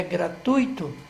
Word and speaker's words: gratuito: essa essa palavra que a pronúncia correta é gratuito esse tui tui é uma sílaba só eu não tenha assento